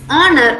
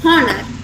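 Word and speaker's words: honour: have something in common the h sound here is silent uh please remember this the letter h uh some people pronounce the letter h as heads it's not h it's h coming to these words it's r instead of heart it's honor instead of corner it's honest instead of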